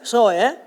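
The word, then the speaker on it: ζωή: 이 말은 헬라말로 쪼에 막 그런 말도 있는데 사실 이게 이제 제트 발음이기 때문에 제트 발음은 시온도 제트 발음이에요. 근데 시온이라고 하잖아요. 그러니까 사실 S에 더 가까워. 이런 말이에요. 소에 해봐만.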